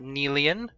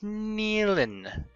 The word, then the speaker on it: Nealon: I was saying his name wrong before. It's not Nealian, it's Nealon. Also inside the pod though,